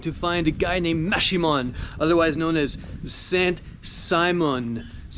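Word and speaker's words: Maximón: I'm going to find a guy named Maximon, otherwise known as Saint Simon, and he lives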